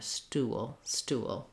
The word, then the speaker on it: stool: It's one syllable, but we really drag out that sound because we have that little schwa and that little gliding w sound before our L, stool.